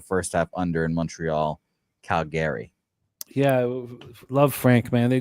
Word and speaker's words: Calgary: And Jimmy, yours is under 24.5, Montreal, Calgary. Yes, crucial to get the hook there. And I pronounced it incorrectly. Calgary.